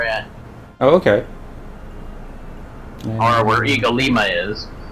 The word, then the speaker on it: Ig-Alima: Or where Eagle Lima is. Eagle Lima. Is that how you say it? Yeah, cuz it's like kind of Iggy.